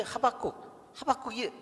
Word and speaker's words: 하박국: 유대인들은요, 이 하박국이 뻐꾸기 일종 같죠? 하박국, 뻐국 그래가지고 하박국이 뻐꾸기 같아요. 근데 이 유대인 발음으로는 하박국, 바의 액센트가 있대요. 하박국.